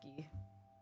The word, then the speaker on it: Guy: Feel like guy would correct people and say his name is pronounced ghee.